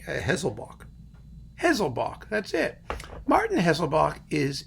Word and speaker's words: Haselböck: Hessel ball now hazel bach how do you pronounce this name a hazel bach hazel bach that's it Martinez loboc is a wonderful conductor